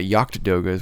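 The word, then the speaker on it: Jagd Doga: To answer your question, the Jagdogas or the Yacht-Dogas, which I believe is the correct pronunciation.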